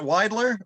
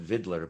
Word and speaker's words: Weidler: bash and uh pat weidler am i pronouncing his name right yeah well here you'd call it vidler but that's but you're saying it right with the yeah um and he